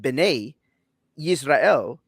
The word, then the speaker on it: Bene Israel: the phrase that that's mispronounced which is properly pronounced bene israel is in fact the the phrase bene in